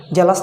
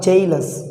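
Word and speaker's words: jealous: ওকে, এবল না এইবল, জেলাস না জেইলাস।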